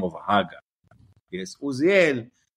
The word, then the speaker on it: Haga: the listeners you know we keep pronouncing it hagga we're not doing that in American wise he he actually spells it it's spelled haga hey alive giml alive